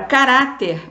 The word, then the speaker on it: caráter: E na palavra caráter, você já tem um acento agudo no A, no segundo A, né? Você já vai saber que a sílaba tônica está em posição de penúltima, então ela é uma palavra também paroxítona.